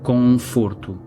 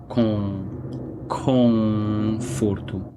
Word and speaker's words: conforto: Então acho que um espanhol ou um falante de inglês diria conforto, porque nós vimos aquele N, mas é um som nasal, como se fosse um M em português, não é?